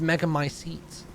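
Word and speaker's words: Megamycete: my seat catalogues all of them oh it's pronounced mega my seats however she will be reborn as my daughter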